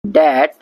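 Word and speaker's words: debt: डेट that can नॉट be paid of. डेट मतलब कर्जा और इसमें बी साइलेंट है।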